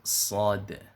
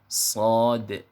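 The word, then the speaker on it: ص: sampaikan banyak sekali orang salah dalam menyebutkan pengucapan huruf shod biasanya ada yang baca huruf sho ada yang baca huruf shod tanpa qolqolah maka kedudukannya adalah salah kenapa karena huruf shod ini nanti termasuk salah satu daripada huruf Wa yang mana kita harus benar membacanya seperti itu Jadi yang betul pengucapannya adalah huruf shod seperti itu adapun yaitu ujung lidah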